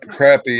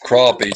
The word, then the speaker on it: crappie: crappie c-o-r-a-p-p-i-e it's pronounced as spelled instead the pronouncing of uh crap crappy is the way it's i mean it's not pronounced that way it's spelled it's pronounced crappie c-r-o-p-p-i-e even though it's about their way that's